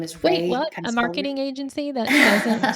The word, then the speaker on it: Rai: can find me at Ray. My first name is spelled kind of weird. It's r ai like the university.